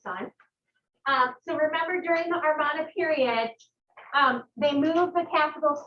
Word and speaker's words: Amarna: Excuse me, Amarna period. I'm always pronouncing it wrong.